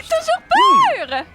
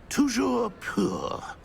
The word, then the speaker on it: toujours pur: Toujours pur!